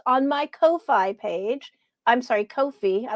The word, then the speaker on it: Ko-fi: pull up the exquisite corpse it's on my ko-fi page i'm sorry kofi i looked up how to pronounce that on my kofi page if you